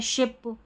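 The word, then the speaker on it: sheep: इसको शीप पढ़ना है। इसको शिप नहीं पढ़ना है। देखिए ये दो दोनों स्पेलिंग है ना? एक तो है शिप यानी कि जहाज और एक है शीप यानी कि भेड़। दोनों का उच्चारण अलग-अलग है।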